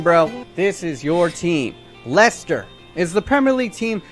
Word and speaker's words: Leicester: And yes, it's pronounced Leicester.